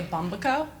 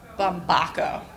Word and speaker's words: Bumbaco: the stage you're welcome a lot of people mispronounce my last name my married name and they'll say Bumbo but I remind them everything's about food so it's like a taco bumbaco that's right so um I